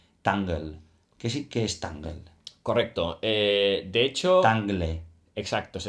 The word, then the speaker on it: Tangle: los oyentes es tangle que sí que es tangle correcto de hecho Exacto se escribe por si lo queréis Buscar porque realmente